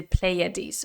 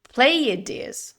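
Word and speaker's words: Pleiades: the left side is the playeres or however you pronounce that in English is the Seven Star bades we say in uh in Spanish and I've never pronounced it is in English so let me just let me just Google how you pronounce this thing Play De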